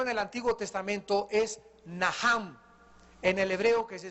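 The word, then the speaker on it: נחם: La primera palabra que se usó en el Antiguo Testamento es Naham, en el hebreo que se escribe Nacham. La CH en el hebreo se pronuncia como J y significa cambiar la manera de pensar.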